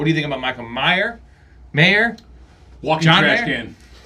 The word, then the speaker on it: Mayer: How do you pronounce it? Mayer. Michael Myers? Michael Mayer. Mayer.